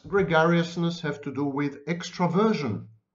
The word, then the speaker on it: extraversion: Okay, what does gregariousness have to do with extraversion, or extroversion, as it is often mispronounced?